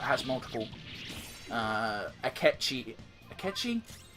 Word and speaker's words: Akechi: multiple I kept cheated akechi yeah I have to double check myself mentally every time I say his name so I've been saying a Duchy sometimes because I'm a [